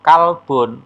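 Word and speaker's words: كلب: kecermatan kita yang ketiga qolbun bun Salim Q pakai Q qof ya itu artinya hatiolbun Tapi kalau kalbun pakai Kaf itu artinya anjing ya demikian pula pelafalan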